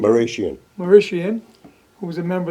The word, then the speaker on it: Marashian: uh how do you say your last name maian maian who was a member of the church